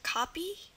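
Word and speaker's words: caapi: the a sounds really there's only two words in Portuguese with a a so two words that utilize a a a double A for the a sound and those two words are katinga katinga like that and copy c a a p i so with the exception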